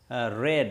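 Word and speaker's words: read: রিড শব্দটি যখনই আপনি পাস্ট পার্টিসিপল করবেন তার চেহারার কিন্তু পরিবর্তন নেই, কারণ এটার তিনটে ফর্মই এক, কিন্তু উচ্চারণটাকে একটু ডিফারেন্ট করতে হবে। রেড উচ্চারণ হয়ে যাবে রেড, ইজ রেড by Khalid.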